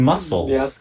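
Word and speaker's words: Meowscles: shadow meows meow schools meow schools is how you say that it's supposed to be mussels oh yeah oh i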